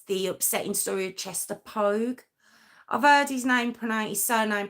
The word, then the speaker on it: Poage: Yeah, I've heard his name pronounced a couple of ways, but for the most part, I've seen it as Pogue. Although Pogue's not spelt that way or that, but we're going to say Pogue because that's how I've seen it pronounced.